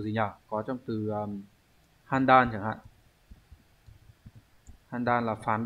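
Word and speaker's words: 判断: Có trong từ handan chẳng hạn.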